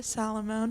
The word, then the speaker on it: Salomone: made a great difference hi i'm salomon that's how you pronounce my last name salomone okay got it um